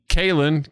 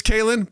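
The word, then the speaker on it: Caelen: My son is Kaylin, but it's spelled C-A-E-L-E-N. Right.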